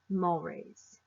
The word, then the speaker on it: mores: taboos the word is spelled mores but it's pronounced mulwray's first we'll talk about gestures gestures are using